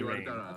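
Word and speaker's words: Raen: No, it's R-A-E-N, so it's Rain. Rain. Ren would be R-E-N in Japanese.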